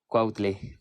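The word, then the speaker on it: Cuautle: let's continue with Danielle many people do not pronounce my last name very well it's c-u-a-u-t-l-e quietly won't play uh where is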